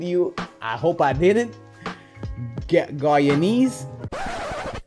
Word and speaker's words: Guyanese: Guyanese. The proper pronunciation is Guyanese, people.